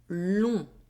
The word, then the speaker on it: long: As final letter of a word, the letter G is not pronounced. For example, c'est long.